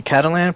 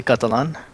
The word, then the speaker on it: Catalan: I've gotten used to people calling me Catalan, but it's actually Catalan.